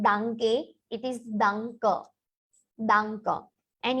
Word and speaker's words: danke: Whenever you have e in ending of German spelling, majority times the pronunciation is ended with a. So it is not danke, it is danke.